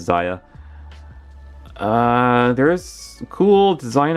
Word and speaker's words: Zia: take a look at Zia or Zaya once again I just pronounce it as Zaya uh there's some cool